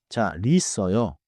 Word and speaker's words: 잘 있어요: for example 잘 있어요. WR with a space but in natural speech the real sound moves forward. 자, 리어요.